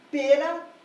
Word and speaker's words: pera: escrever canções então aqui pera e maçã ambas com duas sílabas porém com uma diferença brutal Pera tem a primeira sílaba tônica sua sílaba tônica a primeira sílaba da palavra Então ela já começa